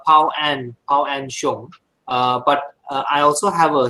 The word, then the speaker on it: Pao-Ann Hsiung: Pronounce my name. Actually, it's Pao-Ann Hsiung.